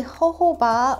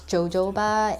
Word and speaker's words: jojoba: about these two products so this is the ho-ho ba oil and then this is the bio oil I remember when I first started youtube I pronounce this as jojoba and a lot of people were like commenting